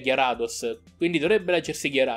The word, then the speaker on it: Gyarados: dos a piccola cosa non si dice gary dos dovrebbe chiamarsi chiara dos chi perché è il